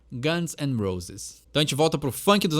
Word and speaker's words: Guns N' Roses: de formatar esse nome eu vejo muita gente pronunciando errado mas é Guns and Roses né tem o Guns n' Roses a gente a gente costuma juntar todas as palavras numa só e inglês eles também são conhecidos como dia no ar mas o jeito correto de pronunciar Guns and Roses gente volta por funk